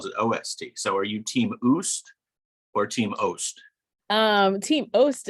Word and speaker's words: OOST: And because we immediately get to the topics that matter, I had always abbreviated out of school time as OOST and pronounced it in my head, oost.